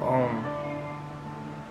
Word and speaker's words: Om: This universal sound is a combination of three syllables, A, U, and Ma.